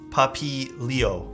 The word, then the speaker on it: Papilio: You're missing the second I? Papilo, isn't it? Papilio. Oh, Papilio. Oh, I see what you mean. The second I makes that sound.